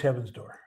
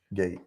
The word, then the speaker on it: Heaven's Door: Almost as good as Heaven's Door. Gate.